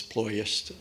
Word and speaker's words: Ploiești: This was the extraordinary low-level raid on the Ploiești oil fields, Ploiești, a Romanian would pronounce it, in Romania.